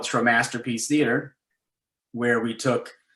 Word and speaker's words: Tromasterpiece: How do you pronounce it? Tromasterpiece. Tromasterpiece.